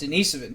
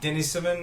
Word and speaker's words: Denisovan: Denisovans actually pronounced Denisovan, too. We got I hit onto you this in on the the Oh, I last fucking one. heard that. God, Denisovan?